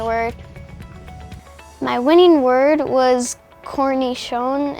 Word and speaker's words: cornichon: My winning word was cornichon. It's spelled C-O-R-N-I-C-H-O-N.